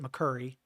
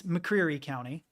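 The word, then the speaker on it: McCreary County: is how it's spelled everyone who lives there calls it mccu but it's mccre County mccre County and Whitley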